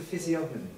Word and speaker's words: physiognomy: No, I think it's the physiognomy.